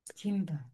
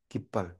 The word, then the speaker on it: 깃발: 그리고 17절에 베세, 요라, 하숨, 김, 깃발, 깃발, 김, 김, 깃, 김발, 김 아니고 깃, 깃발, 깃발. 발음이 정확하게 안 나오네요.